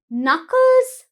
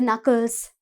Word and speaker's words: Knuckles: Pota right famous mountain in Sri Lanka then Knuckles mountain range Knuckles mountain range right now what is special about this mountain what do you call the knuckles right now right when we hold our fist